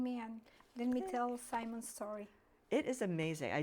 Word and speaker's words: Simon: And we will talk about your son, Simon, or Simon? We call him Simon. In Simon. Spanish, it's Simon. Yes.